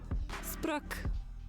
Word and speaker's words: sprioc: Let's see how it's actually pronounced. Cockshot. I should just name the app Cockshot. I don't know why not. Spruck. Oh, I don't have my headphones on. Spruck. Spruck. Spruck. Spreoc. Spruck. Spruck. Okay, well at least it's pronounced. Unlike every other Gaelic word I've used in my apps, it it's pronounced like it says it.